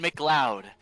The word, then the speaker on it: Mloud: For I am Mloud, and no other pronunciation of my name is correct.